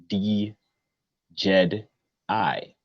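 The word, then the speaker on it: Djedi: So the Jedi, pronounced D Jed I.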